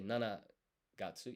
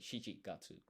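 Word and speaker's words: 七月: Uh and it's to say July in Japanese, you don't say nana gatsu. You say shichi gatsu.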